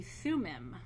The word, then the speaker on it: Thummim: two energy streams and I'm gonna I'm gonna spell them and pronounce them for you the Orem you are I am and the Thummim okay Thu mmm I am these energy streams are